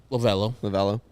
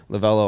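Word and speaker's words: Lovullo: Lovello, I believe.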